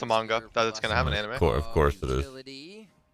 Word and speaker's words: manga: Wait, is it manga or manga? Like a mango? It's manga.